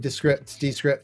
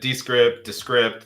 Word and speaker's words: Descript: Yeah, the AI in Descript. I may have been pronouncing it incorrectly. The founder, Andrew Mason, says it both ways himself.